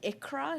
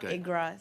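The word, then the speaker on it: Iqra: everyone point of clarification my name is pronounced ikra not igra so just for for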